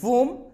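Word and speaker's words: womb: क्योंकि ये एम के बाद में आया है, बी को हमें यहां पे प्रोनाउंस नहीं करना। हम बोलते हैं वूम, जो मां का गर्भ होता है उसे बोलते हैं वूम।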